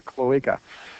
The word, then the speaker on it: cloaca: Sorry, a cloaca is how you pronounce it, a cloaca.